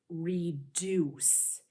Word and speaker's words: reduce: In this syllable here, it gives us the hint that the U is going to be making a long vowel sound. In this word, the long vowel U says ooh, deuce. This word is reduce.